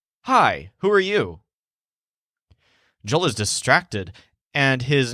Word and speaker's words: yo: He often pronounces it with a slight y, as in Yo, and that makes it almost sound like Joel.